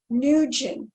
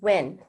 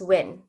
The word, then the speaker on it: Nguyen: correctly it's uh pronounced win yeah it's who when knew when um you could pronounce as n that's like the americanized but if you want to pronounce it correctly it's just win oh so it's